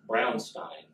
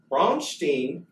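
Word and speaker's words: Braunstein: war game called brown Stein and it is pronounced brown Stein he will yes this whole spiel he does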